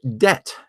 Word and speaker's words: debt: conservatism was the culprit the word debt has never been pronounced with a B sound in we've never said